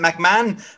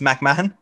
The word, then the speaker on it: McMahon: surname is is unpronounceable i'll accept mcmahon but it is pronounced mcmahon um i myself have